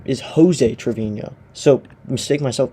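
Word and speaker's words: José Treviño: It's kind of embarrassing because his real name is Joseé Trovinho. So mistake myself. It's Joseé Trevinho.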